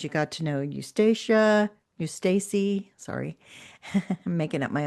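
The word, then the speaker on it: Eustacie: It was a slow build-up, cuz you got to know Eustacia Eustacy. Sorry. I'm making up my own names here. it's Well, I could be wrong. I think it's Eustacy.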